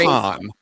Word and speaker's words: Cannes: Cannes is the right way to say it.